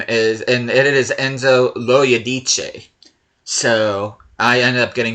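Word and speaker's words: Enzo Loiodice: And I did figure out how to pronounce this guy's name, and it is Enzo Loyadice.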